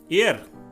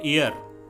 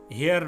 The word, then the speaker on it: heir: এয়ার, HEIR, কিন্তু এর উচ্চারণ হবে এয়ার, হেয়ার নয়।